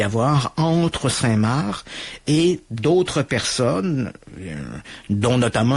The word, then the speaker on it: Saint-Mars: du côté des Français, ça s'écrit Saint-Mars, comme la planète Mars, mais les Français disent toujours Saint-Marc.